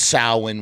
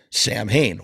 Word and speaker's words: Samhain: name is actually pronounced Samhain, which is like the Celtic original way of saying things, when in fact every member of Samhain calls the band Samhain.